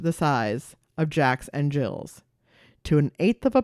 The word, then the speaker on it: gill: units called Jacks and jills oh spelled like fish gills but pronounced Jill okay now as you'd